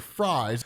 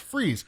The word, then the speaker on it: Fries: keeps calling him Mr fries because technically it is spelled the way you would spell fries but it is pronounced freeze then they kind of